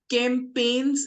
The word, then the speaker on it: campaigns: Then campaigns is the right pronunciation.